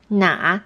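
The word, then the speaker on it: 哪: come naturally to you na'a is in the third tone and means which and na is in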